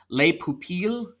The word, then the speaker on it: Les Pupilles: The nominees are An Irish Goodbye, Evalu, I will probably get the French pronunciation of this wrong, but Les Pupilles.